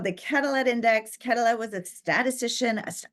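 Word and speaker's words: Quetelet: name correct corly because I think there's a French component in there it looks like calet um but I don't think we can pronounce the T but yeah absolutely he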